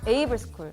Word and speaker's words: AIVLE: AIVLE 어떻게 읽어요? 얼라이브 아이블레 AI블이? 에이블스쿨. I는 묵음이에요.